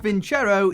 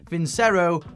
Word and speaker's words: Vincero: And yes, it is pronounced Vincero, even though I've seen many people pronouncing this Vincero or Vincero.